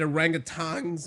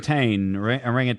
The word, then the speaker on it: orangutan: do you say it a rangang mitch it's a rangan a ranan Aon it's just not a rangang there's no G I like Tang better